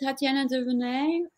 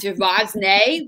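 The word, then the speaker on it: Tatiana de Rosnay: But then after that interview, when we let her go, I was like, oh, is it Tatiana Demonet? Oops, it's not Duvosnay, like we say in New Jersey.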